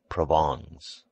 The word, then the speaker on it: Provence: his wife's relatives from provence pronounced provongs he imported officials by